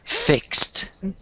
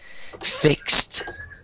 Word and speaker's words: fixed: time one more time fixed it's correct fit no no no no because it sounds like you're just saying fix you want to say fixed try and make that t sound at the end fixed so try so